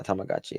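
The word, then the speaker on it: Tamagotchi: stupid those T tagachi is that how you pronounce uh yeah tamagachi okay uh and how he would clip them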